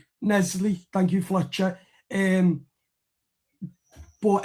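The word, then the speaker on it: En-Nesyri: In this video, we're going to discuss that Everton are interested in Benfica striker Ysef and Ernie. I think I think that's how you pronounce it. Nesley. Nesley.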